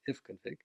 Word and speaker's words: ifconfig: We can see what networks we have available and how they're configured on Mac by running ifconfig, interface config, or I'll pronounce it ifconfig.